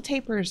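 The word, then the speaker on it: tapir: at these guys look how cute these little tapers are and I actually did look up how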